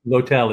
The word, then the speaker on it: L'Hotel: If you're listening right now and you might have missed the name of the hotel because it literally is L'Hotel, pronounced L'Hotel in French.